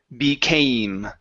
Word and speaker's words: became: Right here, give me a long A. It's aim, became. Became.